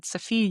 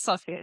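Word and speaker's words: Sofia: Both Swedler and Alexander are studying at Safia University. Alexander is part of the faculty student council of Safia University. Actually, I think it's Sophia, right? What's the right pronunciation? Sophia. Yes, it's Sophia. So, I apologize for this,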